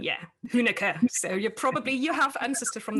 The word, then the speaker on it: Huenecke: I'm not quite sure if I pronounced that right. You actually did. We actually pronounce it wrong over in the States, but as a German, you understand, so you got it.